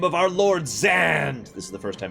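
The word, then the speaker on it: Zande: By the way, someone actually looked into this and figured out how Zand is supposed to be pronounced. For the record, I will continue calling him Zand because his name is Zand. However, his name is supposed to be pronounced Zonday.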